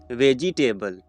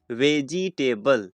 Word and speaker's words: vegetable: Vegetable. What? vegetable. No, this is not the correct pronunciation of this word. So the correct pronunciation of this word is vegetable. Veg. You have to stress this part. Veg.